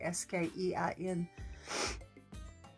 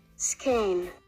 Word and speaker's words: skein: game i can't say that word i can spell it s-k-e-i-n skein skein um so anyway i picked up 32